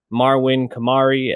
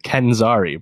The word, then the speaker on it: Kenzari: Obviously, we got Will Smith as the genie, Marwin Kamari as Jafar, and Nassim. Come on, pronounce these right. Kenzari, bro.